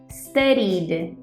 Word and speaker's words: studied: it's a voiced sound therefore studying in the past should sound like studied studied the same thing happens